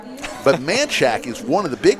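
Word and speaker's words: Manchaca: right on the border i'm glad you pronounced it right you're new to austin some people would say manchaka but uh it's manchac i've got a whole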